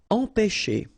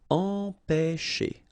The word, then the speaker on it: empêcher: Okay, remember accent circumflex on the top of E here goes like E. Alright, nasal here, en, pe, and then you've got this CH and it produces this sh sound.